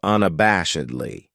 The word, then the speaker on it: unabashedly: weekend then we have unabashedly this adverb has five syllables and the stress is on the third syllable unab bash edley that second syllable has that schwas sound unabashedly what it means